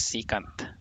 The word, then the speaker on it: secant: second theta second secant it depends on how you pronounce it so i think the correct way is secant so getting the derivative